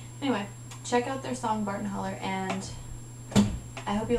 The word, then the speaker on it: Barton Hollow: have to check out their song Barton Holler. Barton Hollow is how it's spelled.